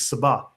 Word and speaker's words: Saba: Now, he says here for instance down below that in Arabic this is Saba. Right? Because the sh in the in the in the Jewish pronunciation becomes s in the Arabic pronunciation.